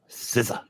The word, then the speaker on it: SZA: Is that how it's pronounced? I thought it was size. I don't know. I assumed it was SCA. No, SZA.